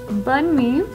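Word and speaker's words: Bunmi: tired yeah so this mom her name is bunme bun bun she's bun me that's her name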